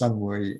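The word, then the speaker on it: 新會: There's Xinhui, which is pronounced Sunhui in Cantonese, Taishan in Mandarin, and Toisan in Cantonese, Kaiping or Huiping, and Enping or Yanping.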